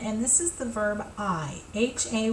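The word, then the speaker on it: hay: this is the verb I ha A Y even though it looks like hey it is pronounced I as in I am or I see with my I so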